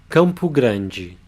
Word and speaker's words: Campo Grande: In the second syllable we have the palatalization of the consonant D, not a hard D sound, but a soft J sound, together with the E, G.